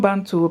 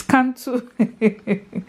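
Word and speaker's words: Cantu: they call it now it's not ban to please forgive me it's can to it's can to guys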